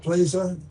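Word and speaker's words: Plesa: you can, Vice Chair of this group, Plaza. Am I close? Thank you so much, Is that close to Senator. pronunciation? Yes, you did very well. Thank you. Good morning, everybody. My name is Plisa, and I proudly serve as the Vice Chair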